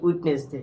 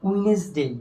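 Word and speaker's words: Wednesday: কি উইটনেস ডে কি উইটনেস ডে কিন্তু এর সঠিক উচ্চারণ কি হবে বলতো উইনেস ডে কি উইনেস ডে উইনেস ডে উইনেস ডে উইনেস ডে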